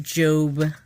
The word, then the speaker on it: Job: It is pronounced Job.